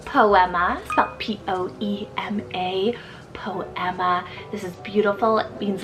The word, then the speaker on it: Poema: also have the Spanish name poema from p-o-e-m-a po Emma this is beautiful it means a little poem